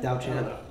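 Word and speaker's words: Diaochan: There's Dio-chan. Or Dio-chan, however you pronunciate it. Yeah, I say Dao-chan? Dao-chan. Dao-chan. Yeah. Dave taught me that.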